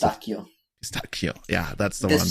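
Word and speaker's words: pistacchio: Pistachio. Yeah, that's the one. That CH is pronounced like a K in Italy.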